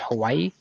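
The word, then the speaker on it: Huawei: separation from the corporation if I remember right it's pronounced Hawaii it's a Chinese cause it's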